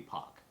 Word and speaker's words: Paak: So he says in a radio interview, it's technically Pac. Because but he always Korean, says right? Pac.